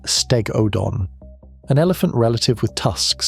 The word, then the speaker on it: Stegodon: Stegodon, pronounced Stegodon, an elephant relative with tusks set so close together that the trunk probably had to lie across one side.